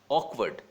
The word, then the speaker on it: awkward: तो यहाँ पे इसका प्रोनाउंसिएशन बहुत इंपॉर्टेंट है, क्या होगा, ऑकवर्ड, ऑकवर्ड, मैं आर नहीं प्रोनाउंस कर रहा हूँ, आप ध्यान रखें, ऑकवर्ड, करेक्ट।